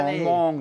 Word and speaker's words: คลองม่วง: คลองม่วงหนองทะเล Klong Mong, Nong Tale.